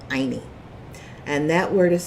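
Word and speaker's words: ayni: all levels is containing a quechua word called aini and that word is spelled a-y-n-i it is Loosely translated as Harmony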